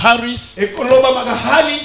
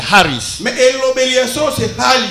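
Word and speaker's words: χάρις: Ça s'écrit Haris, ça se prononce Haris, mais on écrit comme Charis. Mais la prononciation correcte c'est Haris.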